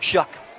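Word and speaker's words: Shough: Yeah, I guess nobody on draft night knew how to say his last name either then cuz I always heard show. Regardless though, the rookie out of Louisville Shuck will hand this one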